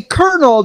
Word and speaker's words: colonel: Where's the R at? Because I hear an R when I pronounce it, and when I say Colonel, there's obviously an R in there. I have coworkers who say Washington.